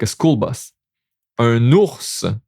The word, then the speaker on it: ours: Un ours. Okay, un ours. Here we do pronounce it.